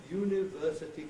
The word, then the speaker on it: university: that kind of condition, I would put in the potential stress there, that's there when university is said on its own, but not ordinarily, not in ordinary, natural, fluent speech.